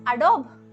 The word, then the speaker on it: Adobe: So this is Adobe. इट is pronounced as एडोबी. Okay, इसका जो last ब है उसको एडोब नहीं बोलना है, एडोबी बोलना है.